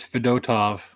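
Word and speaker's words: Fedotov: Uh is it Fedtov? Is that how you pronounce it? I always call him Fed. Yeah, it is Fedtov.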